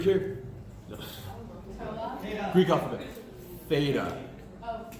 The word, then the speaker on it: theta: Theta. Oh, It's weird. In the English alphabet, how do we spell the pronunciation th? TH. That's their th. Okay? So this is called theta. I'm totally butchering it here,